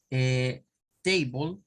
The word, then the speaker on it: table: acá el sonido verdad para Table vendría siendo algo así ahorita no le voy a poner Cuál es la sílaba tónica porque no no no nos vamos a concentrar en eso pero vendría siendo como Hey para la primera t y luego miren acá entre la b y la l aquí en medio de estas dos vienen se metió este sonido este sonido se conoce como shua Mira es el sonido